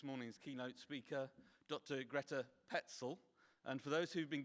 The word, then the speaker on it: Pecl: Greta Petzl. And for those who've been getting her name wrong for all these years, that's how to pronounce it.